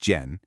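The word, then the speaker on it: 剪: The word you need now is jen, pronounced jen.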